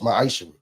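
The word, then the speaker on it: ma'aser: The book of Malachi, chapter 3, verse 8 through 10, means 10th in Hebrew. It's pronounced ma'ashara.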